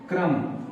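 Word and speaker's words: crumb: का टुकड़ा जिसको क्रम तो लिखे हैं लेकिन हम पढ़ते हैं सीधे क्रम इस बी को साइलेंट करते हैं क्रम मीस होता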